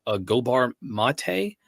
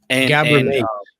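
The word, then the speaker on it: Gabor Maté: Pronounce his name. Gobar Mate. Gabor Mate.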